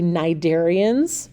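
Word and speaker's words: Cnidarians: group is um the Nigerians that c is silent and then it's pronounced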